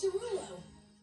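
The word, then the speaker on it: Desrouleaux: is spelled D-E-S-R-O-U-L-E-A-U-X, which is still pronounced the same as Derulo.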